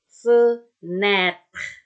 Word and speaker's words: fenêtre: Dibacanya lebih lebar lagi. Contoh ketika kita mengucapkan kata ember, peyek, ya. Lebih lebar kan? Jadi, kalau tadi ini ada E, E. Ya, seperti kita mengucapkan kata ember, peyek. Oke, contoh pada kata fenêtre. Nah, lebar ya.